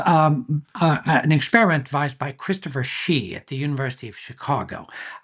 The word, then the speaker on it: Hsee: Well, this was an experiment devised by Christopher Shee at the University of Chicago. His name is spelled Hsee, if you want to look this up.